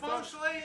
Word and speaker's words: feng shui: I'm just loving the feng shui. Ain't that how they say it? It's feng shui indeed.